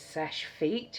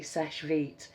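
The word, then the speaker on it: Seche Vite: sesh sesh vit which I thought people were pronouncing it sesh feet you know like feet. It's not. It's vi t e sesh vit.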